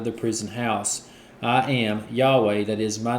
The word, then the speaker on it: Yahweh: and that's what this reads I I am Yahweh say that is my name and my glory